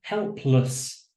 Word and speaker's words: helpless: word doesn't it but we don't want to say less again this is an unstressed syllable am I going to say helpless meaningless thoughtless try that again helpless